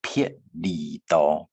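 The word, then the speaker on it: 別離: 话，是人生撇离多，撇离多啊，记得是发 p 的音，不是发 b 啵的音哈，是撇里头。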